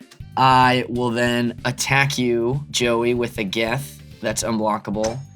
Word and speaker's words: Joey: Joey. Emphasis on the second syllable.